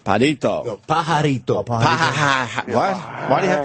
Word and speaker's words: pajarito: It's pajarito, it's called. Padito.